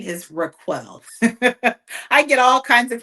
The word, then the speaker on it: RacQuelle: My name is Raquel. I get all kinds of pronunciations and I honestly probably answer to it all because I've done that my whole life.